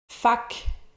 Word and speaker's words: faque: Fac, ici c'est écrit « fait que », là, mais il prononce « fac », la même fac que tout à l'heure, donc.